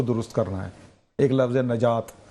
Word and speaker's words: نجات: کرنا ہے۔ ایک لفظ نجات، ایک لفظ نجات ہے نا، تو ان چیزوں کا فرق کر لے کہ نون کے اوپر زبر ہے کہ نون کے نیچے زیر ہے، یہ اس